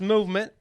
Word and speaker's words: MVMT: about buug bunny I have to talk about movement watches o it's Al of a rage these days all right okay sorry movement you're not alt right MVM rules here mvmt watches it's pronounced movement is founded on the belief that Styles shouldn't